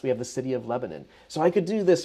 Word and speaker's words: Lebanon: Lebanon, however, is close enough that I want to make sure that you don't actually accidentally refer to it as Lebanon. It's Lebanon, Lebanon.